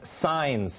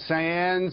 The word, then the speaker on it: Saenz: Jason first of all your name is signs that's how it's pronounced signs is this some kind